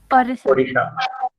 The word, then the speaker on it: Odisha: Odisha. Previously it was spelled as Orissa, but nowadays it is spelled as Odisha.